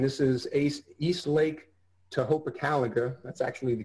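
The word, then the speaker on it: Tohopekaliga: the presentations and this is ace yeast Lake to Hopa calendar that's actually the correct pronunciation so this is an example for my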